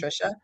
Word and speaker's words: Thrisha: So Trisha is spelled t h r i s h a that first h is silent. It's just pronounced Trisha.